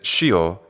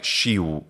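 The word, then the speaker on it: scio: And when he says shio, it sounds a lot like shiu to me.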